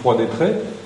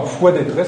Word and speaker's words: Froid-d'Étré: Et donc maintenant, les gens disent Froid-d'Étré. Ça s'est prononcé longtemps Fouet-d'Étré sans prononcer le R, mais apparemment plus personne à Froid-d'Étré ne dit Fouet-d'Étré.